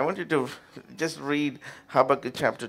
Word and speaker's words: Habakkuk: The other Habakkuk. అది ఎయిర్లో వస్తుంది. Habakkuk. Okay, that's how you pronounce it.